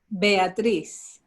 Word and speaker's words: Beatriz: We heard from Beatrice. I have to get this right. Beatrice? How do you say it? I'm terrible with names. Go for it, Beatrice. Beatriz.